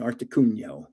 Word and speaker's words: Articuno: And I say Articuno, and everybody yells at me. That's how you say it in Italian, Articuno.